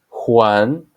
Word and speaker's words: Juan: La chica the girl the sound corresponding to J or hota in Spanish as used in the names Juan and Jose and there is no equivalent in English but try to practice and you will get this sound Juan Jose so this